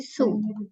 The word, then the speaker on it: sew: Sew, menjahit. Bukan sew tapi su bacanya.